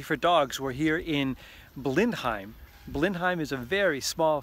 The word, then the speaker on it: Blindheim: little tiny village of Blindheim. The reason it's called Blenheim in English is because French reconnaissance soldiers didn't quite know how to get the pronunciation in German right, so they turned Blindheim into Blenheim.